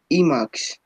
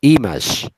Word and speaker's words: image: To transfer on Emacs. Listen the pronunciation, image. Emacs. No, es image, suavecito. No es ni con K ni con D, es una S suavecita. Image.